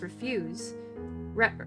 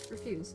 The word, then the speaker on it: refuse: Jezebel shall be as refuse or wait refu. No, refuse, right? Refuse on the Give me just a minute." I know it's usually pronounced refuse.